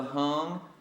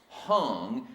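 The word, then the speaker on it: Hang: will they build the hum that word is pronounced hung and it means hand and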